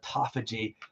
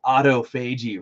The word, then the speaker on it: autophagy: uh the the cell biologists call it autophagy but it's autophagy right I don't know why they have to pronounce it autophagy um yeah so that's